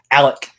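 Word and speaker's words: Alek: No, you said Alex both times. Okay, I thought I said Alec like at the beginning of the show, and then that you did. Yes. Okay. Yeah, at the beginning of the show, yes, but I think probably just now. Yeah, I messed it up. Sorry, guys. It's just hard when it's spelled that way. I'm just not used to it, so it's going to take me a while.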